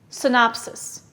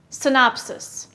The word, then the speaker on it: synopsis: p s i s where's the stress listen synopsis yes it's on the second syllable what part of speech